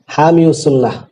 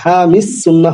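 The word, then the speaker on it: حامي السنة: যেমন বলা হয় কি হামিউস সুন্নাহ, মাদ্রাসার নাম হামিউস সুন্নাহ হবে কেন? কাদিউল কুজাত হয় না, কাদিল কুদাতি। এই ইসমে মানকুসের ইয়া উচ্চারণ আসবে না, অতএব হামিস সুন্নাহ হবে, হামিউস সুন্নাহ হবে না।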